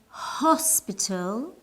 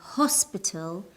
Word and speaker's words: hospital: hour is silent a hospital we use uh because the H in hospital is pronounced one more thing in